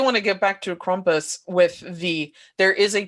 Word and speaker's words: Krampus: but i do want to get back to krompus with the there is a toned-down version of